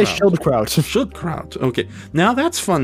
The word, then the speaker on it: Schildkraut: I think it's Schildkraut. Just say Schildkraut.